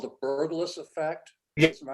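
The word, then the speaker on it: Berglas: There's a trick called the burgless effect. Yes. Am I pronouncing that correctly?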